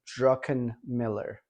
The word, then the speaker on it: Druckenmiller: still pronouncing it right but drucken miller druckenmiller that's it so stanley druckenmiller um